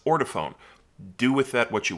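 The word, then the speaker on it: Ortofon: did my homework and according to the people who work there it is indeed pronounced order phone do with that what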